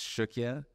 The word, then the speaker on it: Cukia: And if you look at how it's spelled, it's like C-U-K-I-A. It's not even close to what it sounds like.